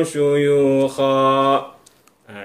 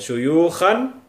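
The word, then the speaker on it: شيوخا: Nah, kalau ada fathatain di akhir, kemudian juga ada alif setelahnya, maka kita baca cukup satu fathah, tidak kita baca dua-duanya. Syuyukhan tidak. Tapi yang betul syuyukha. Bacanya sedikit dipanjangkan dua ketukan.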